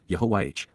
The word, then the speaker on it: Yahowah: personal and proper name, pronounced, Yahowah, based upon Haya, to exist, with my whole heart